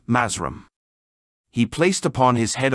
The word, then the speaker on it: Mathrem: He became skillful in mind control and received the lost word of the black magicians, which is written Mathrem, and which they pronounce Mazram.